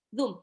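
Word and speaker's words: ظ: Jadi bacanya bukan zoom, ya, tapi zoom. Zum.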